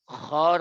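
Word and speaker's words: خ: এটার মূল কারণ হলো বাংলায় যে খ পড়া হয় সেখান থেকে পড়লে কিন্তু বাতাস বের হবে না। এটা গলার থেকে খ পড়তে হবে, গলার থেকে খ পড়তে হবে।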